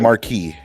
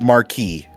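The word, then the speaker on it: Marquess: Biologically, he is That's a correct pronunciation of Marquee. That's confusing statement. Go away. I'm with DND. I'm sorry, Io. You are wrong. M A R Q U E S S. It's pronounced marquee.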